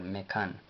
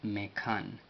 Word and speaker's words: Mekan: La N no lleva pronunciación en el vocal, así es de Mekan, y Mekan significa lugar,